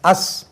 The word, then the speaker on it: us: US அஸ். இதே மீ மாதிரியே அஸ். எங்களுக்கு இது எஸ்ல தான் உச்சரிக்கணும்.